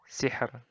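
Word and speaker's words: سِحْر: Nah, ro-nya di akhir ini. Bacanya tipis. Hijr. Sihr. Nah, sihr. Hijr. Nah, kayak gitu. Jadi, tipis saja. Tidak ditebalkan.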